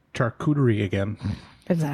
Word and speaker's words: charcuterie: Charcuterie is pronounced. Delicatessen. All right. Delicatessen is the English translation of the word because it is a French word, and it is pronounced Charcuterie.